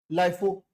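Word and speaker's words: LIFO: लाइफो, कोई लोग लिफो कहते हैं, कोई लोग कहते हैं लाइफो, जिसका भी प्रोनाउंस करो।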